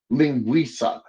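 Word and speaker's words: linguiça: I think the the name of it is lingua I don't know if I'm pronouncing that right but it's Ling Wilson Monica do you have something about that yeah it's lingua linguisa linguisa that's it thenua okay awesome dude I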